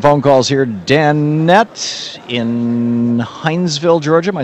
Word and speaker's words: Hinesville: Danette in Hinesville, Georgia.